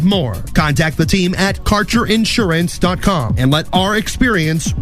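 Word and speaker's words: Kaercher: cannabis Insurance Services is spelled k a e r c h e r that's carer insurance we have worked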